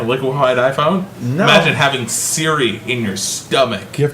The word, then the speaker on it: Siri: And mispronounced Siri. Sorry. Surrey? Sorry, No, Siri. no mammy.